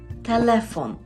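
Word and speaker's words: telefon: це польською розмавяч пшез телефон дуже часто чую помилку що кажуть студенти розмов'яч повинно бути розмав'яч пшез через телефон і наголос повинен бути на е телефон розмавяч шез телефон відмінюється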